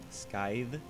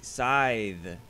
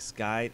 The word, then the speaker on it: Scyth: it's oh I see scythe the C is silent so there's no cuss ound it's like scythes it's not scythes it's